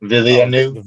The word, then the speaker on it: Villeneuve: How do you pronounce his last name? Villeneuve.